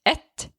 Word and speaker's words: et: It's a little bit different for neuter because you will add the article but you won't pronounce the t in the end. So you would say at house a house who